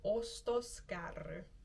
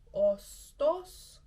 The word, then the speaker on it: ostoskärry: And a shopping cart is called an ostoskärry. Ostoskärry. Okay, it has double R and ends in a Y, so that is maybe a little tricky to pronounce, but let's just practice it slowly together.